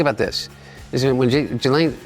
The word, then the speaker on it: Ghislaine: Is it when Ghislaine, how do you pronounce It's technically Ghislaine. Ghislaine. I know that.